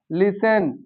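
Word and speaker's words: listen: और बाद में ईएन दिया है, वहां टी साइलेंट हो जाता है। जैसे ऑफन, ऑफन होता है बहुधा, लिसन, इसी तरह बहुत सारे वर्ड होते हैं।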